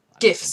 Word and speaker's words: GIF: GIFs. Some folks pronounce it gifts, but I hear you.